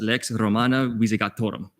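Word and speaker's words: Lex Romana Visigothorum: And for the record, it is pronounced Lex Romana Visegatorum.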